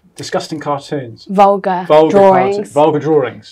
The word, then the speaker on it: VulgaDrawings: Vulgar drawings. Vulgar without the R because it rhymes with vulva.